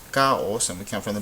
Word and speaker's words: caos: those rules because we have this word is pronounced caos caos and we count from the back so this